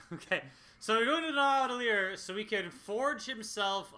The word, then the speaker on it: Nidavellir: Nidavellir. It's Nordic. Nidavellir. Fucking Nordic. Okay. So we're going to Nidavellir so he can forge himself a new weapon with which to kill Thanos.